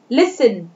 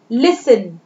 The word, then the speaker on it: listen: then listen, listen, T is silent letter here, listen।